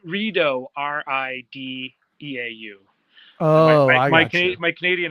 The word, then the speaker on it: Rideau: Rideau Lakes? Like Doritos? Rideau, Rideau.